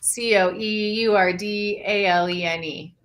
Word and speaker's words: Coeur d'Alene: It's COEURDALENE. It's like that. Oh, I mean, I know how to spell it because I live in the city of Missouri called Creve Coeur.